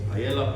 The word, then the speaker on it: paella: making something say uh paella yellow paella depending where you come from it's how you say it beautiful spanish dish